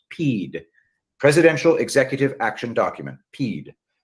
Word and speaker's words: PEAD: Executive Action Document, PEAD, hereinafter pronounced PEED, Presidential Executive Action Document, PEED, to suspend the counting of the Electoral College votes.